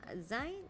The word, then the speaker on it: zine: Zines are most likely pronounced the same as magazines. Yeah, actually, that's why I wasn't certain. I was like zine, zine, but yeah, it is zine.